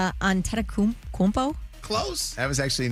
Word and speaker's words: Antetokounmpo: Antetokounmpo? Close. That was actually not bad. Yeah. Antetokounmpo.